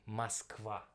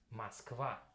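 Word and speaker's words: Москва: So we doesn't call it Moscow, we call it Moskva. But, and I think very attentive listeners already mentioned the difference, because here we have O letter, right? But as you can see, when I pronounce it more or less like this. Moskva. That's how I say actually in Russian, Moskva. But we're gonna spell it with O.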